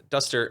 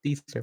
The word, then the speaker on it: Deester: And Duster, I hope I'm saying your name right. First off, yeah, it's a Deester, but yeah, I mean it's close enough.